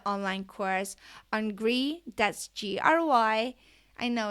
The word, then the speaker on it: Gry: You can download my project plan for the online course on Gry, that's Gry. I know it's spelled weird, but my mom and dad did not give me an international name.